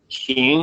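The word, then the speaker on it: 行: So yes, Yuhan, you said xing. That word can also be pronounced hung. Usually it breaks down. Xing is a verb, hung is a noun.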